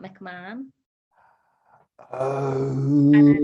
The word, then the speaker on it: McMahon: But by me, it's McMahon. Some people say McMacken. Some people say McMahon. Americans say McMahon.